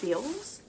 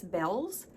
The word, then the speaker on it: Bealls: Now, I think it is pronounced Bills, but I'm pretty sure the lady said it's Bells. And so I'm not exactly sure how to pronounce it, but it's Bealls.